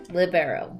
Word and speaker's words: libero: It's actually supposed to be called libero. Because libero's it's an Italian descent word.